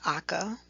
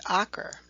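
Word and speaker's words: Acre: history of this ancient city named akka but also known as ocker a-c-r-e when the crusaders occupied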